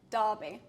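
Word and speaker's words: Derby: opinion so I've got another one for you Darby Darby Darby d-a-r-b-y I don't know d-a-r-e-r d-e-r-b-y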